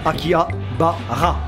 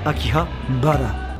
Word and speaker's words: Akihabara: Vous inquiétez pas, ça va revenir en été 2019, à Akihabara, la station Akihabara, pour ceux qui prononcent à la française, si tu veux la japonaise, Akihabara.